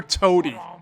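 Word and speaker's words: Toty: under the fearsome commander toady i wish i was making that up i mean yeah they do spell it toati but they pronounce it toady and i think we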